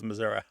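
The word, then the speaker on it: Missouri: years we'll see if there's anybody left who says Missoura yeah it'll just be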